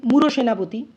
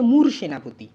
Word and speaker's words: মূল সেনাপতি: ফেললাম আসল উচ্চারণ সন্দেহাতিত আমরা যদি উচ্চারণ করে ফেলি মূর সেনাপতি ভুল আসর উচ্চারণটা কিন্তু হচ্ছে মূল সেনাপতি তাহলে সেখানে কিন্তু মুক্তদল